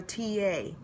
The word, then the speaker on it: Tiye: think they call our TA I think they pronounce her name ta even though it's spelled Tiye and she is also